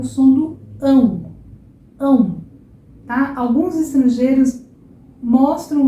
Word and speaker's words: ão: Agora, não é A, é um Então, o que você vai fazer? Você vai tentar jogar o seu ar bem no nariz. O é um som nasal, tá?